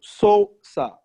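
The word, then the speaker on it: scissors: No, sosa. Sosa. Sosa. This is how you pronounce it.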